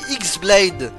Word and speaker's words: X-Blade: Son nom se prononce de la même façon, mais s'écrit X-Blade, celle qu'avait Vanitas du coup.